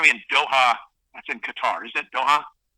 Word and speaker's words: Qatar: We can just say Qatar. It's like guitar.